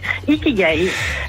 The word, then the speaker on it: ikigai: si je prononce bien ikigai ça se prononce comme ça ikigai donc ikigai litigail c'est